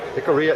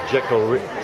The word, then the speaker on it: Jicarilla: I've been trying to say it, Jicarilla. See, I'm trying to pronounce the J in there. It's You know, more like Spanish.